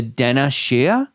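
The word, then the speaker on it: Daoine Sidhe: Um but there is a type of fairy or dark elf called the Dena Shea and it's spelled like Dow Wing Sid Ha.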